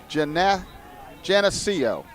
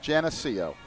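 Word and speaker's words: Geneseo: I've been told by some SUNY people that it's pronounced Genseo. So I think we're on track there. I apologize for any of the SUNY people out there, but it's Genseo.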